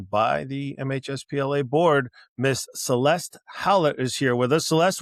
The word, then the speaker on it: Celeste Hallett: Miss Celeste Hallett is here with us.